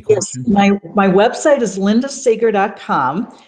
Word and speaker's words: Seger: my website is Linda Sager Tom just think of Bob Seger it's spelled the same way but pronounced slightly different and my email is